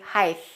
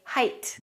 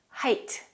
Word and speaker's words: height: not correct don't say height it's not a th it's an ht we say height height the word height is